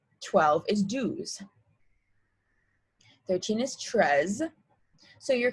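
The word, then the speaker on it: douze: 11 being ohms and then 12 is dues just like how two is d 12 is dues 13 is tres so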